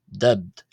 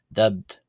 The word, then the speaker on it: ⲧⲉⲃⲧ: this word meaning fish the first t is pronounced as a d so d where the second t is pronounced as a t uh as it's part of a final consonant cluster giving us the pronunciation of the word fish as dubbed dubbed So as we mentioned